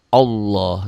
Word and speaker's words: Allah: Rasulullah, Allah kan tebal, Allah bunyi O. Tetapi kalau sebelum lafaz Allah berbaris di bawah, ini berbunyi A, ya tipis.